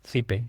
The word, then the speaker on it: Cype: It's Sipe in Spanish.